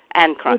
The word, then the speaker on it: Akron: services, which will be led today by Stephanie Akron. Is that how you say it? Akron.